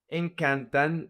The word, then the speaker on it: encanta: The emphasis in the conjugation in the simple present doesn't go to the last syllable. It goes to the second to the last. So, the emphasis is going to be the syllable can.